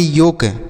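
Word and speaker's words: yolk: क्या पढ़ेंगे बच्चों योक यहां पर जो ल लिखा गया है ना यह साइलेंट होगा मतलब इसे नहीं पढ़ेंगे इसका उच्चारण नहीं किया जाएगा तो इसे योल का नहीं पढ़ेंगे योग पढ़ेंगे योग का अर्थ होता है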